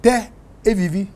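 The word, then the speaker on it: תל אביב: I mean, if you say something like Tel Aviv, you know Tel Aviv? I know Tel Aviv. Yeah, in Israel. In Hebrew, it's pronounced Teh Aviv.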